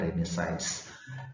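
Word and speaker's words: Renaissance: yaitu krimnya science ya tulisannya ressence sedangkan cara membacanya adalah redesigns jadi saya segitu artinya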